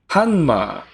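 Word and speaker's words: ハンマー: hanma that's so weird that's how you pronounce hammer in Japanese hanma it's crazy that's weird using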